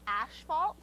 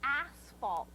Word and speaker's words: asphalt: repair do you know a lot of people say ashalt that's wrong that's just avoidance because it's pronounced asphalt say it over and